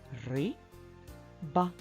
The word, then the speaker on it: риба: на склади слово риба ри ба скільки складів поставимо наголос в слові риба наголос над звуком и абсолютно правильно в першому